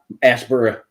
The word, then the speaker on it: Asheboro: went up we did a day-date up in Asheboro and it's Aspera that's how it's pronounced here um and it happens twofold because